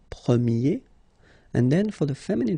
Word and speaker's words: premier: And then the sound will change quite much, because if you think about the masculine form, you pronounce it premier, okay? Premier.